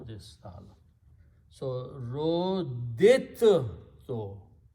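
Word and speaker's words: رُدِدتُّ: a ta, okay, so we do not pronounce the second dal because the makharij of dal and ta are very close in the tongue.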